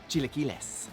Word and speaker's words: Chilaquiles: You have to pronounce it properly every time. Chilaquiles.